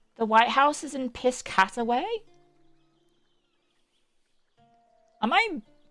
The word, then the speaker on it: Piscataway: Piss Cataway. Wait, the White House is in Piscataway. Am I mispronouncing this?